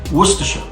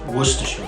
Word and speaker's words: Worcestershire: he say worcestershire sauce although this is spelled were sister shire practice with me if you're not used to saying this it is very easy broken into three sections what stir what stir worcestershire worcestershire sauce so here we've